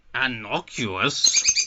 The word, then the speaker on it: innocuous: That makes it sound like he's gone A, but it's a fucking I.